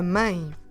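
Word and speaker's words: mãe: a teal e and because of that teal accent we need to do the sound ah and it's a nasal deep tongue so we do I a mine so if I want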